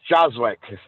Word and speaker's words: Joswiak: Yes, Joswick Thank is you. how you pronounce it.